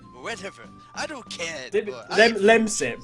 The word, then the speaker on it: Lemsip: Lemsip, Oh. not lip sync.